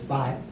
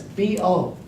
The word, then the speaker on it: 拨: Then, when I was about 2-3 years later, I realized this bo is not pronounced as by, it's pronounced as bo, bo, fourth tone. 拨云还自上，明月落谁家? So this character bo is fourth tone.